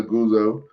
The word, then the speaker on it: Aguzo: Oh, I said it right this week. Brian Aguzo. I never put the Z in his name.